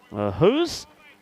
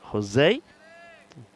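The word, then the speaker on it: José: And Jim Hos or as I say Jose as that's pronounced in Spain.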